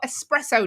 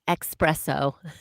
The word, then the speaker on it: espresso: today it is national espresso day um i do love an espresso i do love an espresso as well isn't that and you say it correctly my mom still says expresso express but she also says